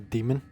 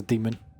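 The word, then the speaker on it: daemon: There's a thing in coding or program called a demon. A demon is spelled D A E M O N.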